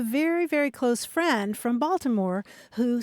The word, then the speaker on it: Baltimore: of the pockets where the old pronunciation is retained is that right Baltimore balore not always Baltimore but part of Maryland New Jersey and eastern